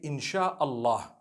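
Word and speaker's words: إن شاء الله: so in Allah and when you're saying it you say insh Allah okay so I'm writing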